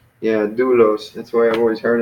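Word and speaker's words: δοῦλος: I think it's on the first syllable. Yeah, doulos.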